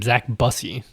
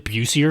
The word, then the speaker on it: Zacobusy: It means you're Oh, that is how you pronounce his name. Zack busy. Okay. I thought it was like pronouncing Bucy or something.